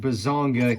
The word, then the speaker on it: Bazanga: And that kaiju is Bazonga. Yes, that's actually how it's said. Yeah, this is the Ultra Man Bazonga Kaiju.